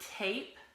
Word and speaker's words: tape: we say the word tape this is what we call the long a sometimes we see a